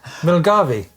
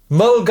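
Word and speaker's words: Milngavie: How do you think you pronounce that place name? I mean, which place? Milgavi. Well, it's completely wrong, Steve. Why would you Milavei? No. What is it? I got ripped apart for a lot of my pronunciation apparently. Rightly so. What is that? Mulgy. Mulgy, I believe.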